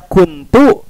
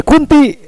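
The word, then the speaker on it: كنتُ: Harusnya dibaca kuntu keluar jadi kunti ya atau kunta.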